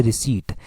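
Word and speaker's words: receipt: तो रिसिप्ट बोलते हैं, रिसिप्ट जब बोलते हैं तो प्रोनाउंसिएशन इसकी गलत हो जाती है। एक्चुअली में जो प्रोनाउंसिएशन होती है वो होती है रिसीट। रिसीट जब प्रोनाउंसिएशन होती है तो रिसीट में पी जो है वो हमेशा साइलेंट रहता है। रिसिप्ट हम आमतौर पर बोल देते हैं, परंतु रिसीट जो है वो एक एग्जैक्ट प्रोनाउंसिएशन हुई और इसमें पी कहीं पर देखने को नहीं मिलता।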